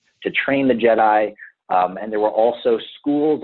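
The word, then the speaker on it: Djed: it comes from the root word jed and jed is spelled d-j-e-d and the jed represents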